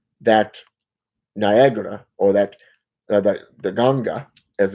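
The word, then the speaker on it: nganga: So this individual had an issue with the fact that because I didn't have that Niagara or that the Ganga as it's pronounced, that I utilized something.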